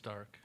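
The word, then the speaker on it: Darke: there's not an eye in it oh they say dark county it's dark dark county there you go the east side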